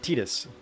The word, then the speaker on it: Tidus: Forever Chibi asks, how do I say the name Tidus? I pronounce it Tidus. The correct name.